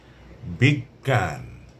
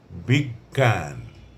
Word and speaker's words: বিজ্ঞান: যেমন বিজ্ঞান বিজ্ঞান বিজ্ঞান বিজ্ঞপ্তি গ এবং গ দুটির উচ্চারণ আসছে তারপরে অজ্ঞান অজ্ঞান অবজ্ঞা অবজ্ঞা